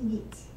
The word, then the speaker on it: Meath: is clonycavan man County need and the Irish pronounce the th with it so it with someone county meath 392 to 201 BC found by heat cutters